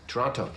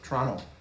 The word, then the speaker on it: Toronto: where are we born toronto toronto canadians don't pronounce the t some comatae guard is